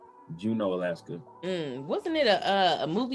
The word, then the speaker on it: Juneau: It's pronounced Juneau. It's Juneau. Juneau, Alaska.